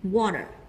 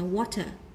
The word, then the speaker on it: water: Nếu theo Anh Mỹ chúng ta đọc là âm d thành water, water. Còn nếu Anh thì chúng ta cứ đọc là water bình thường nhé.